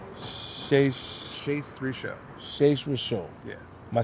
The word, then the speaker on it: Shais Rishon: Yeah, and then Rabbi name is Rabbi Shais Rishon. It's my real name. Shais Rishon. Shais Rishon. Yes. Am I saying it right? Yes. Shais Rishon. Shais. S-H-A-I-S. Shais Rishon. R-I-S-H-O-N.